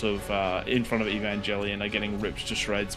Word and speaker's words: Evangelion: There are there are units coming to save the day from uh how do you pronounce that? Evan Angel. Evangelion. Yeah, Evangelian.